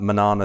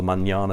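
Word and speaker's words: Mañana: my buddy Sam at Manana surfboards or manjana surfboards as it's supposed to be pronounced he's another local shaper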